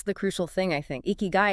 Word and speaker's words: ikigai: You pronounce it eeky guy.